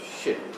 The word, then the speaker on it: shirk: The pronunciation of the word is shirk, which is one syllable. Don't make it two.